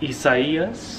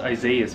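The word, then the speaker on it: Isaias: hour ago the hurricane isaiah's i thought it was isaiah's but i think it's pronounced isaiah's well i guess he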